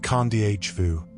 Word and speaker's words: Kadavu: Wilder and more remote, Kadavu, pronounced Kandhvu, is Fiji's fourth largest island, lying about 60 mi south of Vitil Leu.